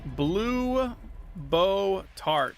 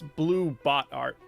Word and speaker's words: Blue Bot Art: Blue Bow Tart. If I'm saying that right. No, I'm not saying it right. It's Blue Bot Art.